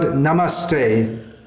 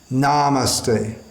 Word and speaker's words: namaste: So we should pronounce it as is given in the Shastra and not change this. First word, Namaste, not Namaste.